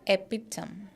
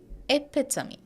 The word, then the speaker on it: epitome: slide see this is not epitom the last sound is not actually pronounced as M but me it is epitomy epitomy epitomy she is